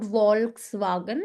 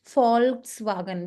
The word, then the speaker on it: Volkswagen: It's not Volkswagen, it's Faulkswagen because it's a German car brand and V is always pronounced as F. So that is why it's FS wagon.